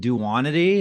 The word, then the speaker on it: duonity: So it's like, Well, is that where duon is it duonity? How do you yeah. pronounce that? Yeah, that's right. Yeah, yeah.